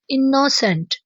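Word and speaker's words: innocent: इसे आपने सख्ती से प्रोनाउंस नहीं करना, जैसे कि इनोसेंट ऐसे नहीं बोलना, इसे बोलेंगे इनोसेंट। इनोसेंट।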